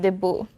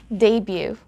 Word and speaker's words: debut: call that the boo again in the philippines we call that the boo but in english it's debut one more time debut